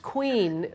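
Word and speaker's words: Kouign: you so let's start with a name it's pronounced queen but it's actually spelled ke o u i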